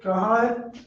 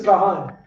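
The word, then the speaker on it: כהן: Okay, Kahan, which means priest, right? So now we're gonna get the hold up. Excuse me. Yeah, Khan. How do you say priest? Priest is Kahan.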